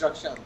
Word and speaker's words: Rakshand: How do you pronounce it? Yes, it's Rakshand.